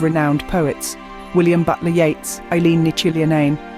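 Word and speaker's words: Eiléan Ní Chuilleanáin: poets, William Butler Yeats, Eileen Ni Chillian, pronounced Eileen Ni Quill Unorn, Emily Dickinson, Seamus Heaney and Sylvia Plath.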